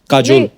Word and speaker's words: Kajol: बड़ा यूनिक नाम है आपका, काजोल। काजल है ना, but काजल होता है, काजोल हाँ, but मतलब बंगाली में spelling है, काजोल। बंगाली में ऐसे बंगाली में लिखते हैं। ऐसे उसका प्रोनाउंसिएशन है पर बड़ा अच्छा लगता है काजोल।